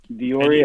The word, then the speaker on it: Dauria: He's on SoundCloud, he's on Instagram, on Dioria, Spotify. spell that out for everybody. At what? DAURIA Music. Dioria.